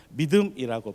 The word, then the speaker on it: 믿음: 액션을 하는 마인드풀한 인텔리전스입니다 믿음이라고 발음을 합니다 KT 지금에서 얘기하는 믿음에